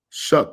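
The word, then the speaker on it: Shough: Shuck is the quarterback, right? That's how you say his name? Mm-hmm. Shuck.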